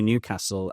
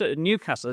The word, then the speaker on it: Newcastle: No, the stress is on the first Newcastle. It's not Newcastle. I thought it was Newcastle. No. It's Newcastle.